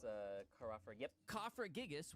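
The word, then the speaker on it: Cofagrigus: it's a ker yep cofra gigas which is actually how it's pronounced Pat is actually the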